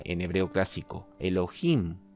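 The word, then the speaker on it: אֱלֹהִים: una persona también tenemos esta palabra que se pronuncia en hebreo clásico elohim o elohim después se explicará algo más sobre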